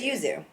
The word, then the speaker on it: Yuzu: be going with the Uzu all right easy that's right where you pronounce it user you Yuzu Yuzu yeah this one yeah it's Yuzu and for anyone else